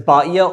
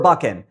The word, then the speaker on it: バ先: assert can be read as baiya or baken. I couldn't find anyone online discussing how to read it except for this person who does provide the baken reading, so at least one person does pronounce it that way. But for me, I think baiya is more likely, and at least for me, it flows off the tongue a bit more easily.